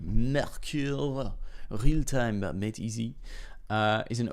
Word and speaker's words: Mercure: Mercure, real-time made easy, is an open solution. I know the company is French, right? So I suppose you pronounce it Mercure instead of Mercure.